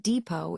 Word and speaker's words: depot: For example, the word depot is a storage place, but notice how the silent t isn't pronounced.